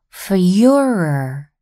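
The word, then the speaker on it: Führer: the most powerful empire on earth in German Fuhrer is the word for leader and Fuhrer was what Germans called Hitler you pronounce it like this for your Hitler ruled over Germany from 1933 until 1945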